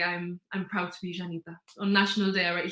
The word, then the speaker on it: Llanita: Well, I think the word Janita, because that is like our slang for Gibraltarian.